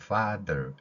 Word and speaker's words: Father: 파파 이렇게 소리를 내면 되는 겁니다 그래서 Our Father 이렇게 하면은 완전한 발음이 되겠죠 th 발음 중에서 F 발음 같은